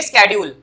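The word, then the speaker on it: schedule: लेकिन इसको शेड्यूल तो बोलो ही बोलो क्योंकि तुमने वही सुना है शेड्यूल, लेकिन इसकी जो सही प्रोनाउंसिएशन होती है वो होती है स्केड्यूल।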